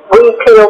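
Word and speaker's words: huipil: And the repeater, we peel potatoes, is how I learned how to say it properly.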